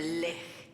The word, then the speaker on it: lich: every voice actor to pronounce lich the same way is it lick i guess but there's a bunch